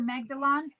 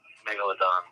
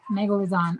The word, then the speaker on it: Megalodon: The Magdalon? Am I saying that right? No. How do you say it? Megalodon. Megalodon. Okay, my bad.